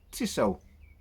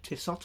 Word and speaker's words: Tissot: Tiso or Tissot, however you want to pronounce it.